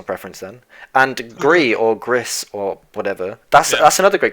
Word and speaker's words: Gris: was told by Emma I'm sure that it's pronounced Gris I feel like she'd know she's just typed